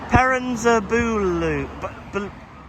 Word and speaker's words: Perranzabuloe: How do we pronounce it? Perranzabuloe.